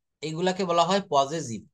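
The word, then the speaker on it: possessive: দেখেন তাহলে এই শব্দগুলা আমরা এইভাবে পড়েছি যে বাক্যে মালিকানা বা নিজস্ব কোনো সম্পদ বোঝাতে পজেসিভ, উচ্চারণটা করতে হবে পজেসিভ, হ্যাঁ এটা পজিটিভ বলবো না, এটা হচ্ছে পজেসিভ ব্যবহার করা হয়।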